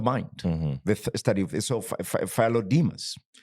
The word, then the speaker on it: Philodemus: Since then, thousands of characters have been revealed, unlocking writings by Philodemus. It's like Nicodemus, but Philo is, sort of, when you hear philosophy, right? The study of the mind, the study of so Philodemus, right?